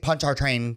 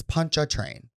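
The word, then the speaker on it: Pontchartrain: lady said the lake punch our train Causeway and I was like ooh so you just don't pronounce the r correct it's punch a train punch so today's word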